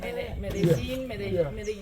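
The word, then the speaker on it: Medellín: This is how you write Medellin. Yeah. But in so Kenya, this is, you see, this I already told you. LLI is G.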